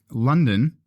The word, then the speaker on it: London: a Latin word now London came about because the local Britain when they were trying to pronounce London in their accent started to say lundan wow lundan lundan and then that became London today's London today's London